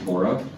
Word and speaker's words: Torah: offended if you say Torah. But if you were a Hebrew speaker, you go to synagogue, you're going to hear it referred to as Torah. The accent would be on the second syllable, Torah.